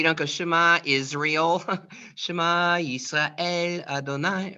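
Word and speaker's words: ישראל: Shema, Yisrael, Adonai.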